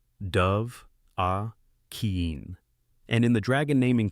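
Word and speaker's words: Dovahkiin: the peak of highgar, they don't say it as two blurred syllables. They stress three separate words. Dove, a keen.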